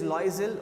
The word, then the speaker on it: Loisel: The day of the ball approached and Ma'am Loisel, the pronunciation is Loisel, okay.